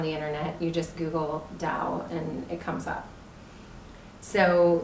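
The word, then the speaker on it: Tao: is spelled ta o even though it's pronounced with the duh you can find it easily on the Internet you just Google Dao and it comes up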